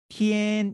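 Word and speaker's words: 天: 글자는 우리는 1000이라고 있죠 근데 중국 사람들은 뭐라고 있냐면 tn 이 라고 읽어요 일본어로는 뗀 일하고 있습니다 비슷하죠 천 tn 뗀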